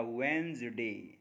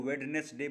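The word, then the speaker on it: Wednesday: तो आप मेरे अभी प्रोनंसिएशन पे गौर करें तो आप समझ गए होंगे कि मैंने डी तो कहीं बोला ही नहीं। बोला वसडे तो डी जब है ही नहीं तो डी ही साइलेंट है। अक्सर हम लोग उसको वेडनेस डे बोल देते हैं लेकिन असल में है वसडे। फिर देखिए बड़ा कॉमन सा क्वेश्चन।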